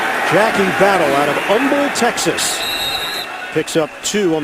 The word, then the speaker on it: Humble: good point it is Umble that's what Dan told me in our production meeting last night thank God for Wikipedia they backed me up on that one from the seven the H is silent who knew third and